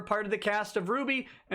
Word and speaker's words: RWBY: for the animated series rwby pronounced ruby manana had a role